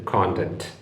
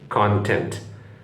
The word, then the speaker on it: content: പറഞ്ഞാൽ സംതൃപ്തി കണ്ടെന്റ് നമ്മുടെ മലയാളത്തിൽ കണ്ടെന്റ് എന്ന് പറയുന്നതിനോട് ഓൾമോസ്റ്റ് സമാനമാണത് മനസ്സിലായില്ലേ ഉച്ചാരണം ഉണ്ടല്ല എന്റെയും